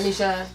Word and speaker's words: Niger: So basically in Africa, the river Niger, is that how you say it? Yeah, Niger.